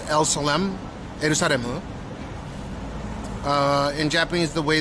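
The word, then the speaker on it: エルサレム: So, in Japanese, the way that they pu uh pronounce uh Jerusalem is elsmaru.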